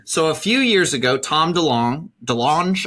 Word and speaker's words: Tom DeLonge: So a few years ago, Tom DeLonge, I believe is how you pronounce it.